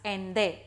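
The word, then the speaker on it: Allende: name is ande though the spelling is different but it is pronounced as ende ende was the founder of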